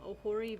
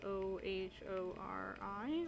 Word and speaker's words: Ohori: of my favorite ones it's called um ahori village it's spelled o h o r i ohori Village Lisa's leaving